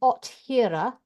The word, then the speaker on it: Othere: And when he got to the questions, he said, by the way, do you know that you say his name Othira?